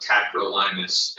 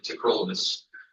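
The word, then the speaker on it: tacrolimus: It's not cyrolymus, it's not tacrolymus, it's cerolamus and trollamus.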